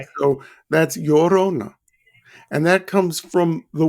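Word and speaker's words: Llorona: I think this one's a little bit easier for me to say the laurona. Well, the two L's in Spanish is pronounced like a Y. Okay. So that's Yorona.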